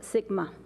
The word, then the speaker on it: SGMA: One short month later, Governor Brown signed the Sustainable Groundwater Management Act, SGMA, pronounced SGMA.